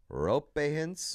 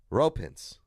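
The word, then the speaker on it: Roope Hintz: Well, from the man's mouth himself, ropins. Ro. Oh my god. off. Rope. Like basically one word.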